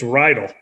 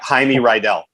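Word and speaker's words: Reidel: spells it right there how do you pronounce your name it's rydal oh i thought it was a lot of people say jaime rydell jamie rydell that's very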